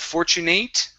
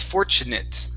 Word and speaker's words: fortunate: Okay, this word here, instead of fortunate, it's fortunate with a short I and a T.